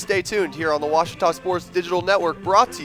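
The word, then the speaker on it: Ouachita: for wasita Baptist University back in Texas everybody pronounces it Witchita but really it's was wash was how would you pronounce it wash wash it's wash Baptist University get it right it's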